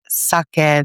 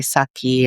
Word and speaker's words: sake: But even then, like the way in which a lot of, like in America, a lot of people pronounce it like sake, they say saki, and karaoke, they say, what is it, karaoke?